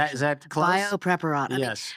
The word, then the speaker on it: Biopreparat: I don't speak Russian, so Good job on the pronunciation. Is that close? Biopreparat.